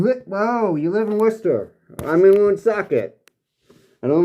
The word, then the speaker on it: Worcester: I've been through Worcester.